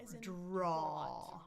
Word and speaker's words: draw: I know it's spelled with two letters, a w, but no, it's drip. Draw draw. Draw. Just one vowel sound there.